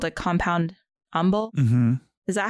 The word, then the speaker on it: umbel: I think it's called a compound umbel. Mm-hmm. Is that how you pronounce that word?